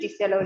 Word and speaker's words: Liselo: I'm a research scientist at Liselo Labs, or as it's pronounced in Lesotho, Liselo Labs, and I'm based here in Hilton.